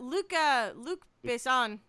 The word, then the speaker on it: Luc Besson: But Luc Besson, right? Is that how you pronounce it?